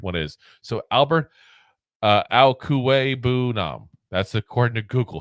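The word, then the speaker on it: Okwuegbunam: So Albert Alkuwe-Bunam. That's according to Google how you pronounce it.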